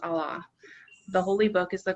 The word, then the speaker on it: Allah: God in Arabic is pronounced Allah.